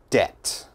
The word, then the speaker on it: debt: very difficult listen carefully debt debt okay which letter i don't pronounce debt this b never say debit or something like that it is debt d-e-t debt debt be very